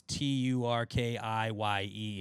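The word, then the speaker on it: Türkiye: We're in the World Cup group with Turkey, but it was Tur Ki. And I was like, ah. So in the Turkish language, like their native language, they would pronounce it turkey.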